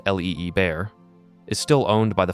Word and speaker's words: Liebherr: Liebherr, pronounced l i e bear, is still owned by the founding family.